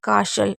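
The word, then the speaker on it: castle: जैसे fashion, glisten, वसल और कासल। इसे वैसे केसल भी पढ़ सकते हैं। कासल जरूरी नहीं है।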